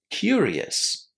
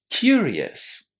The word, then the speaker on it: curious: So, can you still hear the s at the end of this adjective? Yeah, we definitely say s, right? Curious. As we said, any adjective in English that ends in o us is going to be pronounced like this. But this whole ending here in the word curious sounds like the word yes.